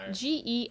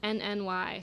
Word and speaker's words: Genny: Jenny, like It's Jenny cream. Genny. Genny. So that stands for Genesee, which is a type of beer that's produced in Rochester, New York.